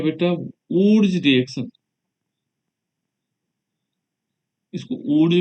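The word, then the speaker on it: Wurtz: जैसे लिखना चाहो, ये वुटर्ज अभिक्रिया, है ना, ऊर्ज ऊर्ज भी लिख सकते हैं। तो ये अलग अलग है, कहीं पे वुटर्ज अभिक्रिया भी लिखा होगा, वुटर्ज अभिक्रिया, ठीक है ना। ये अलग अलग नामों से प्रोनाउंसिएशन के कारण है, अंग्रेजी में हम ये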